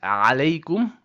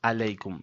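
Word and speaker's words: عليكم: Remember to say alaykum starting with the ayn, which comes from the middle throat, and not alaykum. That's a no-no.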